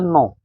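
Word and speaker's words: gnaw: इसका उच्चारण है, इसमें जो उच्चारण है नो, जो सुनने में कैसे लग रहा है?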